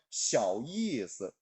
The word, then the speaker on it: 小意思: 小意思. 이를 길게 느려 뺍니다.